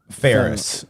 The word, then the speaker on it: Faires: it's just like a it's pronounced like a ferris wheel ferrous okay okay that's it man yeah exactly that's the same thing but it's spelled like fairest without the t so those are the